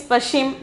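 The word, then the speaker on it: पश्चिम: Then the next one, Pashchim. Okay, Pashchim, Pashchim. Pronunciation is Pashchim.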